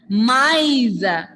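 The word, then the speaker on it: maïs: You have to pronounce those 2 vowel letters separately. Example, maize. Repeat everyone. Maize.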